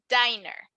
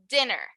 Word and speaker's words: dinner: me uh this word you pronounced it as diner so we would say dinner right i have dinner